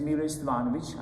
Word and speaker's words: Miloje Stevanovic: My name is Miloje Stevanovic. I try to pronounce it actually as I would be in Europe.